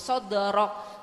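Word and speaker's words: صدرك: penyangauan ya Bu ya sodrok karena Dal salah satu huruf q Qalqalah ya Bu ya makanya ibu harus sodrok sodrok ya Bu ya Coba 1 2 3 shodr nah seperti itu bu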